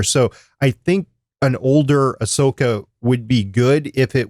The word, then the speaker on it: Ahsoka: Is Ahsoka, or how do you pronounce it, Chris? Ahsoka.